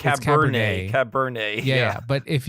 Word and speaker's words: Cabernet: It's called like Cabaret Cabernet. Sauvignon. It's Cabernet.